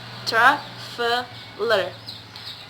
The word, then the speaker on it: traveler: There are 3 syllables, traveler. So the syllables in the word stress in the first syllables, traveler.